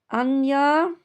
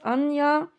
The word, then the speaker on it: Anya: Out came Ana. I looked it up or I rather googled how to say it and it's Anya.